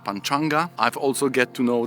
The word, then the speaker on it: Panchanga: And yesterday we had the nice Sanskrit lesson when we learned that we should rather pronounce Panchanga instead of Panchanga.